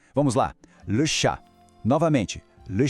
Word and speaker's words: chat: Em francês, a palavra é le chat. Preste atenção que o T no final a gente não fala, ele é mudo. E o A tem um som bem aberto. Vamos lá. Le chat. Novamente, le chat.